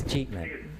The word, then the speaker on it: escheatment: So we move on to item 6.5, adopt Soquel Creek Water District escheatment. Not tell us first how to pronounce that terrible word. It's achievement.